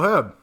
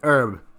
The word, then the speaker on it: herb: So, Herb. Yes. Or is it Herb? Am I pronouncing the H or not? No. No? Like medicinal plants.